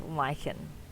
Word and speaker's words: lichen: hug okay fine curly lychen i've been told it's pronounced liken i haven't looked it